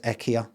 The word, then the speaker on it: IKEA: So, I want you to over the phone and to the customer pronounce it as EKA, right? But what if they go like IKEA? They're not arguing, but they say IKEA.